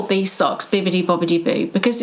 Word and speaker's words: Bibbidi-Bobbidi: Bippity. No, like a P or a B. Yeah. But it is, according to Wikipedia, it's Bibbidi Bobbidi. And when you look at the song lyrics as well, it's spelled that way.